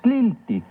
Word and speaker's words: tliltic: Recuerda que en el náhuatl las palabras se acentúan en la penúltima sílaba. Tliltic.